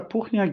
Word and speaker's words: Puchniak: Professor Puchniak is a professor in the Yong Hall School of Law. As you see, I pronounce his surname in a Polish way because he's a Canadian